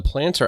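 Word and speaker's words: Plantr: using this app and the planter app which is spelled p l a n t r is available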